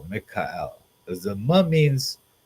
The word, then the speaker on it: Michael: But it would probably be pronounced Mikael, because the ma means like who or what.